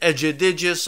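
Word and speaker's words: Egidijus: digis Cavalli Oscar's fight I think that's how you say it edgy digis although I could be completely wrong and then we'll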